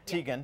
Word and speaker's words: Teigen: All right, model Chrissy Teigen, is that how you pronounce it? Yeah. Teigen.